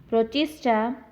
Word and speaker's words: Protista: So, the five kingdom classification includes Monera, Monera, Protista, Protista, fungi, Fungi, fungi.